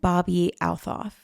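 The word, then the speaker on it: Bobbi Althoff: Drake and Bobby Althof. That's how you pronounce it.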